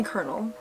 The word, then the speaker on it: colonel: it if it isn't my favorite student Harland Colonel Sanders interrupts sprinkles sorry professor dog before he can finish his sentence please call me colonel I still get why it's spelt like that that's a very strange thing